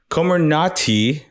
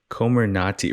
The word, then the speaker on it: Comirnaty: I'm getting from this komarnati great name again Comer Nati reminds me of uh what's that Sherlock Holmes villain the Sherlock Holmes villain name um what's his name uh someone Sherlock Holmes villain rhymes with komarnati I